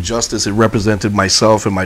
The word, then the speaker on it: Justus: solji means soldier just justice we correctly pronounce it justice but it means just us how unique can you